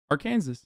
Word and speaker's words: Arkansas: Do you know the actual pronunciation of Arkansas? Like the Matrix, what do you mean? Sag. I'm saying it right. Arkansas.